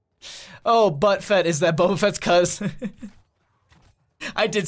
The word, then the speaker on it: Boba Fett: that increased damage is really big looks like Buffett but butts oh but Fett is that Boba Fett's cuz I did say it wrong I did